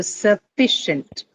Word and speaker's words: sufficient: So sufficient. Sufficient. Right. That is what is going to carry the stress. Sufficient. Fee part is what is going to the second syllable fee is what carries the um stress.